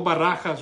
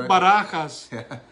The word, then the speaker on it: Barajas: I think I can Barajas right there there you go you got y'all Baracus for all my English speaking people cards Barbara